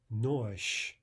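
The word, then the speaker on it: нож: Next comes zh, nosh, nosh. There again is the devoicing of zh to sh.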